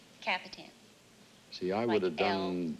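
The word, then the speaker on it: Kapitan: K-A-P-I-T-A-N. And it is pronounced? Capitan.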